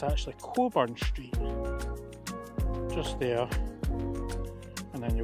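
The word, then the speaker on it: Cockburn Street: it I call it cburn street but it's pronounced by Americans it's cburn but it's actually Coburn Street just there and then you got another view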